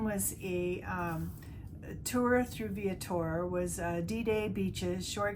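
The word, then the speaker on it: Viator: I book through and I pronounce it vator it's V Victor i a t o r and this one was a um tour through viatour was a D-Day beaches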